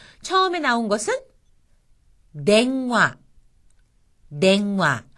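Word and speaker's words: 電話: 처음에 나온 것은 냉화, 냉화. 여기서는 응이 이응으로 발음이 났죠.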